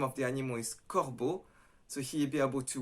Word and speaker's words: corbeau: So for example, a difficult one is E-A-U is pronounced O. So it has no O inside, but you pronounce it O.